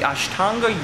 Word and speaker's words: Ashtanga: film part of the Ashtanga yoga class. Did I pronounce that right? Yes, you did.